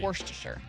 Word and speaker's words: Worcestershire: How do you say Worcestershire sauce? I think that's how you say it. Worcestershire, yeah. Worcestershire. It looks like Worcestershire. Yeah, it looks like Worcestershire, but that's a lie. It's right. Worcestershire.